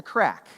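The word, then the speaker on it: craic: is it different well they call it the crack c r a i c I did check that pronunciation multiple times right they call it the crack right which is this cultural value of when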